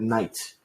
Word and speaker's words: knight: So yeah, basically, if you see a kn, the k is not pronounced. We never say knock. Also, the word knight.